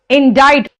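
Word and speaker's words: indict: a crime का मतलब इनडाइज सी यहां पे साइलेंट है और आई का प्रोनंसिएशन जनरली ई आता है जैसे आई इडियट में आया ना इंफॉर्मेशन में सब जगह ई आ रहा है ना यहां पर इसका प्रोनंसिएशन आई आता है इसीलिए डाइट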